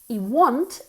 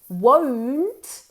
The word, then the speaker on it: won't: my mouth is because this is a difficult word to pronounce okay a lot of students end up saying want want is geted okay want geted won't is will not okay so wo wo W okay now that you